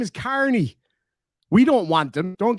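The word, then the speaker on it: Kearney: Carney, isn't it? Or he probably pronounces it wrong and says Kieran, but it's Carney.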